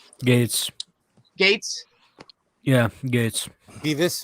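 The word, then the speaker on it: Gaetz: the Matt gate how do you say that gets Gates Gates yeah Gates be this you know I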